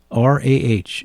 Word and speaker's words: Rah: The Cowan book, The Boom of Thunder and Drums, and the word raw. R A H. Usually spelled like the same from watership down for the chief rabbit. Hazel Rah.